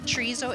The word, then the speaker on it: chorizo: McPherson first of all what the heck is Charisse oh and am I even saying it right I think you're saying it just fine chorizo is just a spicy pork sausage it's fresh